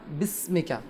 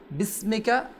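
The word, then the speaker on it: بِسْمِكَ: এখানে জাকির ভাই, জি, বিসমিকা, এটা এখানে যে হামজারা রয়েছে এটা হামজা ওয়াসলি বলে। যখন আমরা মিলে পড়বো আমরা বলছিলাম ওই হামজারার উচ্চারণ হবে না, আল্লাহুম্মা বিসমিকা, হামজারা উচ্চারণ হবে না, আল্লাহুম্মা বিসমিকা আমুতু ওয়া আহইয়া।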